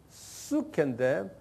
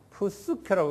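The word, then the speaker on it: ψυχή: 그 다음에 헬라 말로는 수케인데 푸스케라고 그냥 편의상 발음하세요. 푸스케. 왜? 우리가 영어로도 psychology 하면 P 그 다음에 S 쓰죠.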